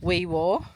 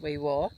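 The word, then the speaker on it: Wee Waa: Only spending one night here and honestly, I drove past Weiwir, which is spelled Weiwa, but they ask you to pronounce it Weiwir, and picked up a few things in their IG, and that was a nice little town.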